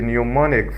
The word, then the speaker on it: mnemonic: said to be the mnemonic format, and the M is silent.